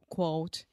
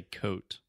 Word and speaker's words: quote: can relate with another quote okay let's just stop really quick quote quote quote quote Yeah first you just completely say coat quote Alexia got a